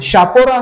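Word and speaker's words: Chapora: खोरजीवेची spelling चालू होते शापोरा हे नाव आहे परंतु त्याची स्पेलिंग चापोरा म्हणजे सी पासून तयार होते सी एच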